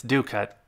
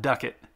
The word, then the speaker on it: ducat: lnus and ducats and it's due cut not uh not duckett uh but that that's